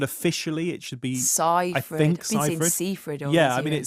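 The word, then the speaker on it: Seyfried: I'm going to say Cyrid only because I heard her say on the radio the other day that that's actually how you pronounce it.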